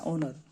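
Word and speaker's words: honour: चढ़ना होनर का डिसनर होनर मतलब ये साइलेंट रहता है ओनर ओनर बोलते हैं ओनर का मतलब हो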